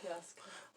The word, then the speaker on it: Yasuke: I think that's how it's pronounced. Right. So Yasuke.